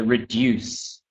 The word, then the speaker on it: reduce: Hung, just the word reduce. Okay, just to try and say the C in there, so reduce.